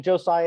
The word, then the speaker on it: Jose: I didn't make up I just called Josiah as usual but hosai is fine too I'll answer that so